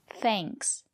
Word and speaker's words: thanks: But if the letter A is before ng or nk, we pronounce it as the long A, like in plane. For example, thanks. We use the long A. Thanks.